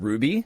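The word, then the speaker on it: RWBY: It's called Ruby. Yeah. But it's spelled weird. It's like R WB Y.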